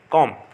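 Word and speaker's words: comb: silent है doubt और कॉम में भी बी साइलेंट है कॉम इस तरह से हमको साइलेंट लेटर और प्रोनंसिएशन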